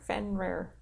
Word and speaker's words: Fenrir: Fenrir. Fenrir. We're really good at pronouncing things We're today.